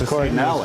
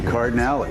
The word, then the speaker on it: Cardinali: they put this phonetic pronunciation. I can just read it and see that it's Cardinali. Cardinals. Exactly, Cardinali. It's sometimes the phonetic pronunciations are harder than the words.